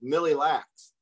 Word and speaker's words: Mille Lacs: I want to thank Mille Lacs not the Malak band of the Egypt way and I just butchered